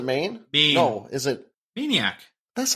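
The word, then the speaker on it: Maineiac: Maniac. That's not how it's spelled MAINEIA. Isn't that like, it's Maniac with Maine. Okay, gotcha.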